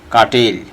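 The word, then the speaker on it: curtail: প্রথম শব্দটা হচ্ছে কাটেল। আরের উচ্চারণ আমরা করব না। আমরা আগেই বলেছি যে আমেরিকানরা আরের সাউন্ডটাকে উজ্জ্বল রাখে, হিডেন রাখে, তারা আরের উচ্চারণটা করে না। সেই ক্ষেত্রে আমরা বলতে পারি কাটেল।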